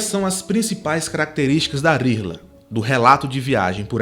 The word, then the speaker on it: rihla: Transcrevendo para o português, as letras que fazem parte desse nome, R-I-H-L-A. A gente pronuncia o R como o R espanhol, vibrado, e esse H do meio a gente pronuncia de forma aspirada, como o R duplo do português.